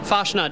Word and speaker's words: Fastnacht: morning people have been calling them different things fosnot fnot fut what's what's the proper pronunciation fosnot Donuts okay F let's as far as car's